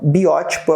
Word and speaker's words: biótipo: tipo não cara biótipo todas as palavras terminadas em tipo são proparoxítonas tá daí a palavra protótipo genótipo-fenótipo também então biótipo é o correto tá bem biótipo palavra